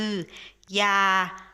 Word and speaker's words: อย่า: ที่ ใช้ ออนำ มี อยู่ สี คำ คือ อย่า อยู่ อย่าง อยาก อยู่ อีก ต่อ ไป เป็น